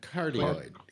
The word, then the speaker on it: cardioid: Carada, how do they pronounce it when you got that pattern? It looks like a heart. Cardioid.